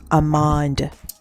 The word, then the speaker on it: Amande: I used NARS, and this particular one is Armand. It's pronounced Amande.